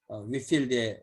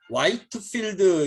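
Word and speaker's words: Whitefield: 거기 이제 위필드에 이렇게 그림이 초상화 이렇게 있고요. 위필드도 여러 화이트필드 이렇게 번역한 이름을 쓰는 사람인데 그건 아닌 것 같아요. 화이트는 아닌 것 같습니다. 위필드 영어 발음 이제 위필드인데 우리는 이제 화이트 하우스도 화이트 하우스 이렇게 하잖아요.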